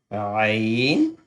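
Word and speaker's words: ع: first one will be Ain, and the next one with a dot on the top will be Ghain. Ain and Ghain. Ain is from the middle throat because Ha and Ain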